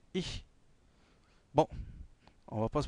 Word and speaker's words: ich: Il y a une prononciation assez spécifique du ich. Donc, c'est pas le che de cheval, chemise, chaleur, comme il fait en ce moment. Mais c'est un, c'est un, c'est un son assez, c'est un che, bien sûr, mais assez fin. C'est ich.